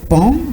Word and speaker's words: paon: Oui Fifi, aujourd'hui nous apportons le mot pan, qui est le nom d'un oiseau dont l'orthographe diffère de la prononciation. Ça s'écrit paon, mais ça se lit pan.